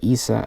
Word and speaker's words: AESA: also to have an ASA or Issa of her people pronounced it both ways and aesa active electronic